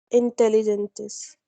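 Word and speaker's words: inteligentes: Intelligentes. I just told G and E comes together, then this is the pronunciation of that part.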